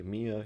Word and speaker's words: MIA: in action am ia even though we could pronounce this as Mia as a word we don't we normally say mi